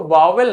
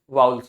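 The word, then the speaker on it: vowels: वाउल्स क्या होते हैं वाउल्स इसको वावेल नहीं पढ़ते हैं बहुत से लोग इसे वावेल पढ़ते हैं वावेल नहीं होता वाउल्स होता है ठीक है वाउल्स वाउल्स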